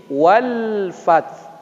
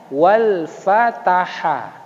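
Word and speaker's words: والفتح: Kalau kita kasih dia harakat, bacanya wal fataha. Kalau kita baca wal fath, berarti huruf ha-nya hilang. Nah, jadi seyogyanya bacanya adalah wal-fath, wal-fath, wal-fath.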